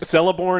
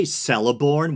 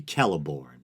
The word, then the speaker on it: Celeborn: And they say Celeborn, which I guess is a common mistake. The C in Tolkien's Elven languages, I think, is supposed to be pronounced as a hard C or a K, at least at the beginning of words or names.